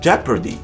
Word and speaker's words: jeopardy: But in addition to those, we also have jeopardy, leopard, and people. I'll let you draw your own conclusions about the letter O.